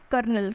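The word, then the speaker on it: colonel: हैं यह क्या है करनाल करनाल बोलते हैं करनाल करनाल है ना लेकिन वो क्या स्पेलिंग इसकी सी ओ ल ओ एन ए ल ठीक है बहुत इंपॉर्टेंट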